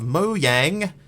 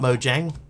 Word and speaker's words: Mojang: even night time incidentally for the person confused about the pronunciation of Mo Yang the word is actually the Swedish word for thing which is why the banner pattern thing is the mo Yang logo for this reason the Swedish pronunciation is technically the correct one and they were just too polite to correct us Mo yang if anybody was wondering Mo yang not Mojang Mo yang Mo gang ly ugly